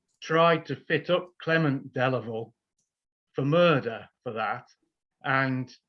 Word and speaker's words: Delavale: Sorry, I call him Delavale because that's the pronunciation we use today.